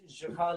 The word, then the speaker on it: Juha: Again, I started it with a Palestinian guy, so it was an Arabic name, JUHA. So I can't actually pronounce it right with the Middle Eastern accent.